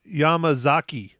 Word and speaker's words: Yamazaki: confidence say it wrong but confidently takayashi yamama yamazaki yeah Takashi yamazaki was uh director and writer